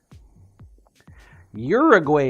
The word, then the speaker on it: Uruguay: open Uruguay that's where you want to go Uruguay is how it said fair enough fair enough